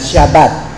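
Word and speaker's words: Shabbat: salitang Sabat mga kapatid sa Hebrew ah ano bang pronunciation diyan ang ang tawag niyan shabat no Ang shabat galing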